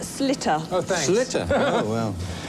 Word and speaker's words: Sliotar: word, by the way, is pronounced slitter.